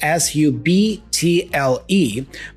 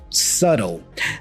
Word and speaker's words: subtle: here the spelling goes s u b t l e but we don't pronounce the b the B here is silent so we say subtle subtle the T here has